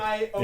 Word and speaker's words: Xion: I have to call her Zion because I don't like the way they. It's pronounce it. Zion! I don't like it's. I always thought it- X-I-O-N. yeah, I thought it was Zion pronounced when I Zion, first read it, yeah. and then when I heard it in the cutscene, Oh, Xion, Xion, I'm like, enchanté.